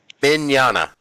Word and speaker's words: Mignogna: me on a well you got to say vic Mignogna bin jana the first G is silent at she tweets that